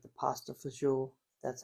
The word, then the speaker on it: fagioli: but it's always awesome when you can make something like I like the pasta fagioli.